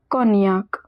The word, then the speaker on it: cognac: above we saw in shallomana that gn is pronounced as near. So this one is cognac.